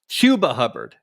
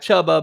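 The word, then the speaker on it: Chuba Hubbard: and I heard your call for help it's pronounced chuba hubard not chubba but chuba no question just wanted to say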